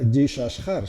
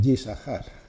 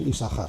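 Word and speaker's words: יששכר: Curiosamente, esto no se pronuncia Yishashar, sino por alguna razón se pronuncia así, Yisahar. Para hacer más fluido la pronunciación, se omite el sonido de la segunda Shin y se suele pronunciar así, Isahar.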